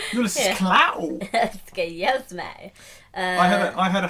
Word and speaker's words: Klaue: His name was spelled like Clow. When I had subtitles, it said it was Klaue. Ulysses Clow. Klaue. Which looks German like Clow. Oh, Claw. Oh, yeah. But I thought it was W.